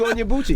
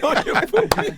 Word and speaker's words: Onyebuchi: So they always say Tochi Onyebuchi. Yep. See? Yep. I didn't want to say On your booty. I didn't want to say it wrong.